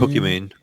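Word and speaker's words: Pokimane: you say her name Pok man Pokemon man pokem man yep yeah you got it pokem pokem Pokemon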